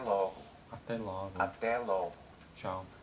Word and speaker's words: até: First of all, extremely common is até logo. Até logo. Até logo. Tchau. Notice the sound on até. Até. Até logo. Até. It's an open vowel.